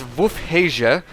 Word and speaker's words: Wolfheze: the uh City and the correct pronunciation of the city and so if you guys heard what I said there it's WF haia and that's very strange